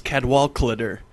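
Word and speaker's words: Cadwaladr: And actually, if you pronounce our name in pure Welsh fashion, it's Cadwallader, because a double L is a cl sound.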